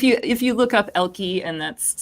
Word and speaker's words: Elkei: yes but if you if you look up elky and that's spelled e-l-k-e-i elky education then you'll definitely be able to get